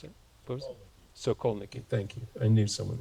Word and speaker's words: Sokolniki: anodized dome in I never know how to pronounce this. Sokolinki Park, Moscow, 1959. Can you pronounce it? What was it? Sokolniki.